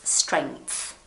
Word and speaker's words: strength: So you say, it's like you say the G and then you say the TH, so it's strength.